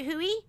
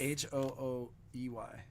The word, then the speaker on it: Hoey: your name right because her last name is is spelled a-n hoey h o e y is it Huey is it h-o-o-e-y hooey okay let's call her let's not call